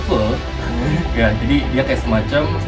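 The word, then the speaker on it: phở: Jadi bukan po ya, bacanya full.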